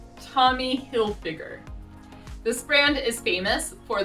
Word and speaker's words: Tommy Hilfiger: by talking about three more brands one is tommy hilfiger tommy hilfiger this brand is famous for their american themed